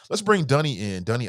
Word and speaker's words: Dunny: Yeah, well, the first thing I like to tell people is that my name is Dunny Isaacson. It's spelled like Danny, but pronounced like Sunny with a D.